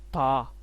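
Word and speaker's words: 他: ये टी है, ये ता लिखा हुआ ना, ये इसको प्रोनाउंसिएट करते हैं था, क्योंकि चाइनीज टी को जो है था थी पढ़ते हैं, इस तरह समझ ले, था।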